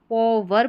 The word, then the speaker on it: power: ये है, इसको POWER को वर पढ़ते हैं, या तो इसको PO पॉवर पढ़ेंगे या पावर पढ़ेंगे। तो सही उच्चारण आपको क्या लग रहा है? पावर, ठीक है, पावर। दोनों तरीके से, यानी PO को पॉ या पा दोनों तरीके से प्रोनाउंस कर सकते हैं।